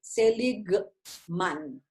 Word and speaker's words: Seligman: Entonces, Martin Seligman se escribe Martín y Seligman, así como se escucha con G, Seligman.